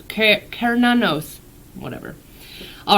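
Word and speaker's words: Cernunnos: week we got I don't know how to pronounce this Serrano's Serrano's look how cool this card is though okay so it says life force all right oh it's pronounced care none knows okay care now knows whatever all right also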